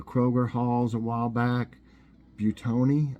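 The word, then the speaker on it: Buitoni: Halls a while back butone I think is how it's pronounced Bui t-o-n-i I think and it's sitting it's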